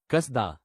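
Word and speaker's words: קסדה: दूसरा शब्द जो हम आज सीखते हैं वो हिब्रू में सुना जाता है कसदा।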